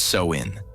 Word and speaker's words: Samhain: Halloween actually goes back to an ancient Celtic festival called Samhain (pronounced “Sow-in”), celebrated mainly in what is now Ireland, the UK, and northern France.